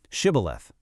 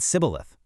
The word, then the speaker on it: shibboleth: one single word correctly, shibboleth. But because they didn't have that specific shi sound in their native dialect, they said sibboleth.